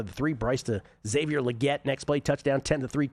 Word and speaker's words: Legette: If he wants to pronounce his name legette, I'm just going to have to disagree.